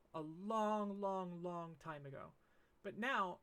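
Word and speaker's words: ん: I don't want to get too deep into particles right now, so just remember that this is pronounced o.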